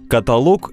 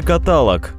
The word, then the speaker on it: каталог: требует огромных стартовых капиталов каталог или каталог куда поставить ударение каталог составленный в определенном порядке перечень часто иллюстрированы каких-нибудь однородных предметов ударение в этом слове следует ставить на гласный о 3 слога каталог например дайте мне